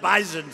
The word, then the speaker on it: bison: I said, I thought it was an S. They said it is, but it's pronounced bison, so we didn't want to get that wrong, right?